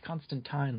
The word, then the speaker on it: Constantine: Yeah, it's Constantine like wine.